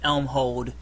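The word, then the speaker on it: Elmhold: spell that for me e l m h o l d e l m h o l d Elm hold like holding an Elm gotcha indeed okay gotcha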